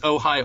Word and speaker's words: Ojai: in called Ohio oil is that how you pronounce it yeah just Ojai oil they're based at a Camarillo which is